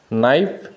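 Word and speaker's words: knife: KN এর উচ্চারণ নিয়ম হলো, ওয়ার্ডের শুরুতে KN থাকলে কে উচ্চারিত হয় না, শুধু N এর উচ্চারণ হয়। যেমন নো মানে জানা, নলেজ মানে জ্ঞান, নক মানে আঘাত করা, নাইফ মানে ছুরি, নি মানে হাঁটু।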